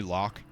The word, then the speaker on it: Lock: which is pretty neat how do I pronounce my twitch name you can just call me lock it's lock 47 but